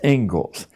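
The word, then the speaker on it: Inglis: Looks like English, but it's pronounced Engles.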